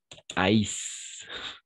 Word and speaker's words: haïssent: Et finalement, ils haïssent. Parce que ENT à la fin, on ne prononce jamais.